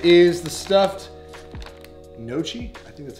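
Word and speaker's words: gnocchi: right is the stuffed noche i think that's how you say it this the g is silent you guys are going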